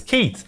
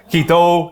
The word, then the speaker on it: Keith: I'm like, you're giving yourself an extra syllable. It's Keith. Just stops at the H. No. Keith O, Keith E.